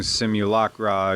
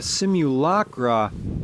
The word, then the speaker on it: simulacra: simulation versus simulacra and I'm pronouncing simulacra using the British pronunciation because of the mall